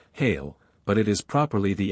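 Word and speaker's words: hele: all this within itself this word is often spelled as it is pronounced hail but it is properly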